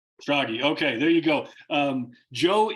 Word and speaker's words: Schrage: Schrage. Schrage.